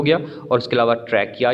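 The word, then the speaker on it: trachea: कहाँ पर कार्टिलेज का फंक्शन, इन ट्रैकिया। ट्रैकिया इसको पढ़ेंगे CH की वजह से ट्रैचिया नहीं, इसको आपने प्रोनाउंस कर देना, साथ में आप लिख लें उसको भी।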